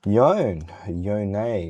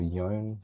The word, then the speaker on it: Yone: Yone, or Yone, some people like to say. I think Yone is like the proper way to say it.